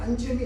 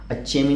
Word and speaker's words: अंचेमी: उच्चारण है कि अंचेमी है, इसमें अंचेमी लिखा है। अंचेमी है वो, न्या है न्या, पंजी अंचेमी, समझ गए ना, अंचेमी है वो, अच्छेमी नहीं है, वो चा नहीं है, न्या है न्या न्या